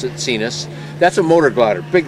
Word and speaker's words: Sinus: pipistrelle cenus it's spelled like sinus but they pronounce it cenus that's a motor glider big long wings i